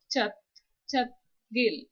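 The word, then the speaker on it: 찻길: Here we have used siot as the final consonant, which has the final sound as th. So siot, chat, chat, gil, and you can also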